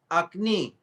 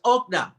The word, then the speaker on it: окна: Акни. First. Oh. It's okna. It's okna. Окна.